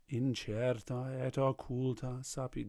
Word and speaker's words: incerta et occulta sapientia: Don't sing it like that. In the actual stress is on incerta et occulta sapientia. So incerta et occulta sapientia.